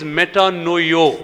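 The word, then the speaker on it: μετανοέω: The pronunciation of that Greek word is metanoio.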